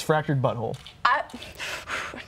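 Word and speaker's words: The Fractured But Whole: 17 the South Park fractured behold I have not played the game say it right it's fractured but whole I want to say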